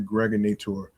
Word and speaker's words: Gregorator: This is your man and homie, aka the Gregorator. rhymes with now or later just like the candy.